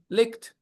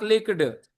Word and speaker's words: licked: Looked licked. Ta. Not looked, not licked. Looked licked. D. Okay. After C sound, it is always T. E will be pronounced T after C sound.